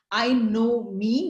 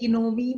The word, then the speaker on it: Inomi: So the name is pronounced as I know me, meaning I know myself. So I know people say Inomi, which, you know, I keep correcting sometimes even clients that no, it's I know me.